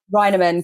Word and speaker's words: Reinemann: holiday with so welcome to the podcast Beverly roiderman hi did I say your last name yes